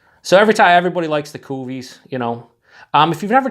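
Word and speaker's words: cuvée: don't have at all kofi and I just always say it like that instead of cuvee cuz it's way more fun anyone's gonna notice me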